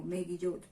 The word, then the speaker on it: Megillot: Por eso se llaman los libros de la fiesta o los rollos de la fiesta, los Megillot, así se pronuncia en hebreo, Megillot.